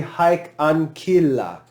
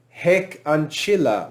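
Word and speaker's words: hic ancilla: just to be clear classical pronunciation this would be hike ankila remember that is always hard haik ankila would be classical ancilla heck ancilla would be ecclesiastical this pronoun is feminine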